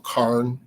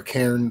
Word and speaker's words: cairn: on top of her little cairn or cairn, depending on how you want to pronounce it, to keep the animals away.